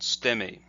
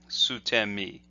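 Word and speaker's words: 捨身: interest, when you're practicing falling techniques, that's called stemi, sutemi. And the mi there refers to the body, sacrificing the body. So when you're falling down, you're sacrificing the body. And so that's what stemi means.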